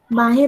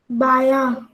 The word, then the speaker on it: बायां: पर दाहिना पंख और बाहें पर बायां पंख फैलाकर बेटा बाहा नहीं है सुखाता। सौम्या, सही से पढ़ो, सही से पढ़ो। बायां हाँ सही बायां उच्चारण करो, आप जानते हो।